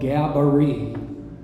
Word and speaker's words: Gaboury: The local record keepers say, how do you spell Gabaree? And you spell it phonetically in English, Gabaree, R-E-E. Looks nothing like the original.